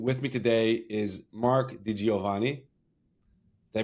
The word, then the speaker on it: DiGiovanni: I'm your host, and with me today is Mark Diovani. Did I pronounce it good?